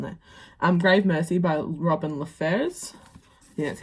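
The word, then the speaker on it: LaFevers: Grave Mercy by Robin LaFers. Yeah, that's how you pronounce it.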